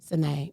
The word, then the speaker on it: Sinead: Is it S-I-N? It's S-I. Yeah, it's not an S-H. Sinead. Wow, that's how you pronounce that? Sinead. Wow, I've been saying that. You've been saying sh.